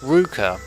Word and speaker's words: Ruka: shrine at hymens urushibara now i know it says luka but because Ella's are in Japanese it's pronounced Ruka and this is actually